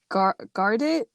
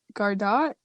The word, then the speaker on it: Gardot: a fool by melody gardet gardot dot how do you say it yeah you got it okay well i was